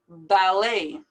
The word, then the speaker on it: ballet: normally pronounce it orangutang ballet now this ending is just like this ending right here in buffet like an a or an a y sound valet anemone you might